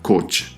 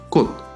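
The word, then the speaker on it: 꽃: Esta palabra no se pronunciará coch, se pronuncia cot.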